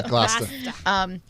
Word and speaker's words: Gloucester: Yeah, Gloucester.